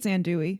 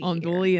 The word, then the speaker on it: andouille: I'll call it let's see andouille, and I don't think that's how you say it. But anyway. Hang on. Okay, so we checked the pronunciation, and it is in fact andouille. I don't know why I pronounce it andouille, but I pronounce a